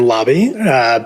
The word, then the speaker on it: Laube: I'm Laube, pronounced like hotel lobby. Everyone gets it wrong the first time.